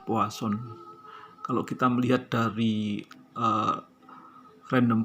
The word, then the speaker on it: Poisson: membahas tentang distribusi poisson tulisannya Poison tetapi kita membacanya adalah puas on kalau kita melihat dari